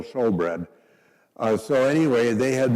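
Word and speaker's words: shewbread: It's spelled S H E W, but it's still showbread.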